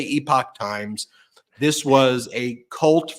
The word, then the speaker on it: Epoch: We talked about in the last MeidasTouch podcast how I think it's pronounced Epoch Times, or some people corrected my epic pronunciation. So I'll say Epoch Times.